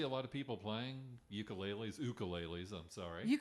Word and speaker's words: ukulele: of that instrument please this is an ukulele not a ukulele correct there's not a you could sing the correct pronunciation is ukulele it is Hawaiian and I do believe